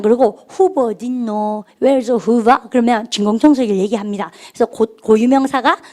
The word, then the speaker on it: Hoover: 오가 겹치면 발음 길게 후가 아니고 후 이렇게 그죠? 발음할까? Hoover. 후버라 그래요.